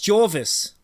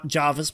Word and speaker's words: Georgivs: It's Jorvis. It's Jorvis, not Jarvis, but Jorvis.